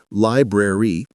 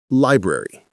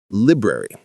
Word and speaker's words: library: How most people say it is library, 3 clear syllables. How to say it is library or library, compressed. The first syllable gets the emphasis.